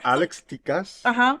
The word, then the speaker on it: Tikas: Or Alex Tikas, or Tikas, right? And I always say it kind of Latino. Is that bad? No, or they go, oh, her. Oh, her, right? But you know, her. Alex Tikas is the right way to say it.